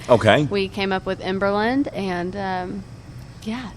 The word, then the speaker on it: Emberland: And I don't know, it's just kind of rolled off Emberland, but then some people think we're saying in Berlin, you know.